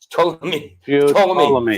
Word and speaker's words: Ptolemy: Ptolemy. Ptolemy. Ptolemy. The P is silent.